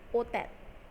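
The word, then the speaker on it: hôtel: Next है HOTEL means होटल, यानी कि होटल. Here also H is silent.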